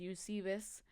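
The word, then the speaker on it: Eusebius: El diccionario geográfico llamado onomasticón, el cual el nombre se me hace chistoso, escrito por Eusebios, Eusebeus, pero así se pronuncia en inglés Eusebes, sitúa a Jazer a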